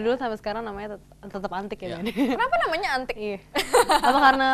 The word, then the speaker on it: Antique: Tulisannya ya, bacanya tetap sama. Bacanya tetap Antik ya. Itu kenapa tuh? Dulu kan namanya Antik Kue. Itu Antik Kue banyak orang bilang, sebenarnya kita maksudnya pengen orang mengucapkan Antik.